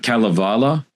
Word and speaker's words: Kalevala: in particular I'm probably going to butcher the pronunciation here but the the Calavala that's right I think this is the